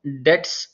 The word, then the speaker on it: debts: You have a total responsibility for all debts. Remember, DEBTS. This is very important. You listen again and again. Debts is like loans, right? For all debts, B is silent, please.